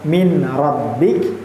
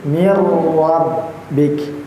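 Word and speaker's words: مِن رَّبِّكَ: Jadi bacanya bukan min rabbik, tapi ingat bahwa ada ketika ada tasdid itu dimasukkan bacaan kita ee langsung kepada huruf yang berharakat. eh tasdid. Jadi jangan sampai min rabbik tapi mirbik ya ditahan sebanyak dua harakat.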